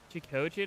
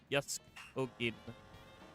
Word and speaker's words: Jackogień: Like, Jackogień is a combination of English and Polish, and it has different pronunciations if you go like fully English or fully Polish. So like, it's Jackogień, but if you wanted to do like the Polish version, it would actually be like Jackogień, because Jack has that more sounding like Jask.